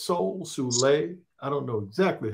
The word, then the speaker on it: Soule: And Charles, I don't know if it's Soul, Soule, I don't know exactly how I always pronounce it Soule. Okay, cool.